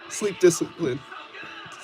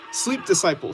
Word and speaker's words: Sleep Disciple: Sleep discipline. No, I said your name wrong. Sleep disciple. Sorry about that.